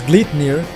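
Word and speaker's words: Gleipnir: The Glyner, pronounced as Gleet near is named after a magical bind from Norse mythology which restrained the legendary wolf Fenrirer.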